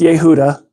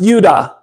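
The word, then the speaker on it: יהודה: I know I'm wrong it's not pronounced Yehuda it's pronounced Yuda they changed it to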